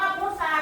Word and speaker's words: พุทรา: พุะ พุะ พุสะ พุสะ เวลา อ่าน อ่าน ออก เสียง ร เรือ มั้ย ไม่ ไม่ เอ๊ะ แสดง ว่า พุทซา เป็น คำ ก ไม่ แพ้ ก